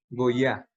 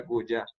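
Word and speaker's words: גויה: goya. Ok. ¿Listos? Que sí, muchas veces a iod a veces la suenan como una y, entonces sería goya, pero no bueno, sí, no me acuerdo bien cómo lo pronunciaste.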